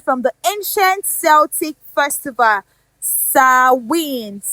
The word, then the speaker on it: Samhain: So Halloween originated from the ancient Celtic festival Samhain, which we know, of course, is not the same spelling as the pronunciation. It is actually spelled Samhain, Samhain. And of course, another point